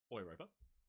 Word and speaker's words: Europa: People criticizing the way that I said Europa instead of saying Europa, of course, being a German ship. And the Germans in the audience could correct me, but it, in theory, should be pronounced Europa.